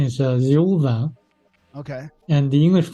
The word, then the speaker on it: Thiaoooba: Oh, so it's more of like a V sound, not a B sound. Yes, Thiaoooba. Okay. Thiaoooba, yes. Okay. Like Jehovah.